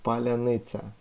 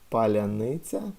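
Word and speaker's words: паляниця: They were asked to say "palyanitsa" because these soft sounds you cannot pronounce if you're not Ukrainian. I mean, because just your mouth is used to pronounce it that soft way. So if you can say "palyanitsa" in this way, then you're definitely Ukrainian.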